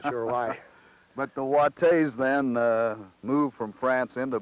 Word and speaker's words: Watte: It's spelled W-A-T-T-E, and it's actually Watte. Is that the way yes. it was pronounced yes.